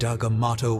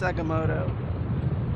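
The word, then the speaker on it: Agamotto: fainter by the great agato will bring her back to us it's pronounced aamot writers and coachers please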